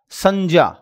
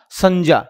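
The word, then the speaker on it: संज्ञा: सही उच्चारण आएगा जैसे मैंने कहा संजा क्या कहा संजा यह सही उच्चारण है ध्यान रखिएगा आगे चलें आगे देखिएगा श्र कैसे बनता है?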